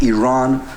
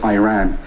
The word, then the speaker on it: Iran: the Iranian people but you're pronouncing our country's name wrong our country is named Iran not Iran please once and for all let's get this clear second of all um